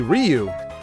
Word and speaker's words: Ryu: used to think as kids that it was Ryu. Yeah, Ryu. We thought it was Ryu, R-Y-U. The guy from Street Fighter. Hadouken! Thought it was Ryu, but it's apparently Ryu, which doesn't look or sound right to me,